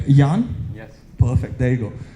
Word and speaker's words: Jan: All right, so the next speaker I have, I was really concerned about getting the pronunciation right. Jan?